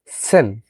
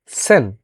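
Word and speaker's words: zehn: সেহা খ এর মত উচ্চারণ আ নয়েন নয়েন যেমন নয় বলি এবং 10 কে বলে আমরা হচ্ছে সেন কেন আমরা সেন বলব কারণ আমরা জানি অলরেডি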